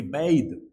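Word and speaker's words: bathe: verb क्रिया है और यह नाउन है इसका उच्चारण बात होगा ठ और ये बैद स्नान करना तो मैं नहाने का आनंद स्नान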